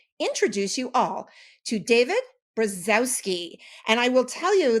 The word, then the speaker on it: Brzozowski: name correctly okay so in Polish you would say brki oh my God that's